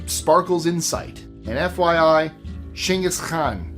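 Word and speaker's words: Genghis Khan: He wasn't American, so it would not be called Gangaskhan, just in case you're wondering why I pronounced it that way. That's how the Mongolians pronounce it.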